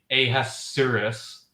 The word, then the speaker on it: Ahasuerus: If it's a more sort of word for word translation, it probably has, I'm going to try to pronounce this properly, Ahasuerus, which is essentially a Hebrew name for the Persian king.